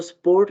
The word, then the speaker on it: Sport: हाँ जी, उसको स्पोर्ट नहीं स्पोर्ट बोलेंगे, ठीक है।